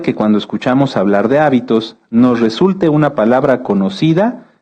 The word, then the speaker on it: hábito: muchas definiciones de hecho si cambiamos el acento de la palabra hábito lleva acento en la a se refiere a esto a nuestras costumbres y si lo cambiamos hacia el final es habitó que viene de habitar fíjense que cómo en